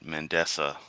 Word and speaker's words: Mandisa: Can't even pronounce the name right. Mandisa.